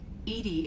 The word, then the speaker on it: EDI: airlock is a jar why are you named Edie Edy is the phonetic pronunciation of e d that is an acronym